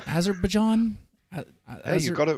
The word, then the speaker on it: Azerbaijan: And I understand that you're over there in, can I pronounce this country's name? Azerbaijan?